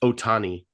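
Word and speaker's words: Ohtani: It's pronounced Otani.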